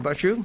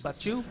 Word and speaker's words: Bashu: How do I pronounce that correctly, Bashu? Just the way you said it, like you would sneeze. That's, Bachu?